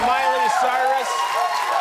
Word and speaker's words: Miley Cyrus: We're back with Miley Cyrus, which rhymes with papyrus.